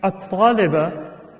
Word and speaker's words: الطالبة: And then in At-Taliba, right, the Hamza is not pronounced, the alif. The Lam also is not pronounced because it's one of the sun letters, and we pronounce the Ta.